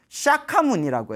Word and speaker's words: 석가모니: 석가족에서 출현하신 성자다 해서 석가모니 인도말로는 샤카무니라고 해요 샤카무니 그래서 이제 우리의 발음으로는 석가 하는데 근데 지금 우리 부처님